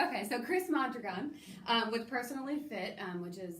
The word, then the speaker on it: Mondragon: So it's a Spanish name, and it's Mondragon with an accent on the last O, but very few people can say it, so we can say Mondragon. Mondragon.